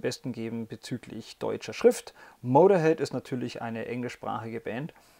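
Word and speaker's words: Motörhead: übernommen in ihr Logo und nennen sich seitdem Motorhead mit zwei Punkten auf dem O, aber es wird natürlich nicht ausgesprochen.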